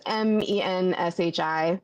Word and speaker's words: Menchie: Menchie? Menchie, yeah. How do you spell that? It's Menshi. It's short for Menshiki, which is like a character in a Murakami book.